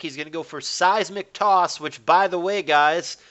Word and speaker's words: Seismic Toss: by the way, guys, is pronounced Seismic Toss. Little fun fact, because my wife and I have been playing Pokemon Stadium, and the stupid announcer calls it Seismic Toss, whatever the fuck that is.